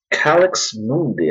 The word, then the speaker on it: Calix Mundi: this one is called CX Mundy I believe that's how it's pronounced and so I had